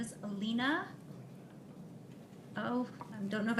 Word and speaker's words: Alina: Dr Fong could you state your name and spell it for the record please sure my name is Alina oh I don't know if I should give